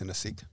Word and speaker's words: Sinosic: Oh, no, you can literally just say Elvis Sinosic.